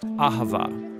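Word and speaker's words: אַהֲבָה: languages as it is in ancient Hebrew it's pronounced Ahava it both basically refers to the kind of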